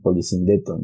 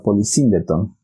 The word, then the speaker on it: polisíndeton: Aunque algunos le dicen polisíndeton, bueno, no sé. Pero según yo tengo entendido, lleva tilde o la acentuación en la segunda I, lo cual nos da polisíndeton.